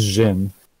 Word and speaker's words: djinn: It's pronounced Jin. Djinn? Jin.